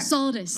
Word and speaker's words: Solidus: And so is it solid or solid? How do you pronounce that? Solidus? Correct. Solidus, okay.